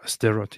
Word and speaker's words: Sderot: Yeah, like when we went to, I don't know how to pronounce it, Sderot or where? Sderot, yeah.